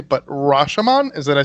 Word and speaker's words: Rashomon: I'm probably going to spend a minute trying to pronounce it correctly, but Rashomon? Did I say that right? Got it. Yeah. Yes. Yeah, Rashomon.